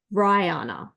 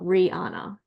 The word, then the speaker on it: Rihanna: And thank you to the teacher that's watching, Karen Taylor, for letting me know that it's Rihanna, not Rihanna. I think it rhymes with high, so Rihanna.